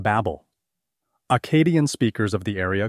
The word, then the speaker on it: Babylon: an important city state its name is of Unknown Origin and was likely pronounced Babel Acadian speakers of the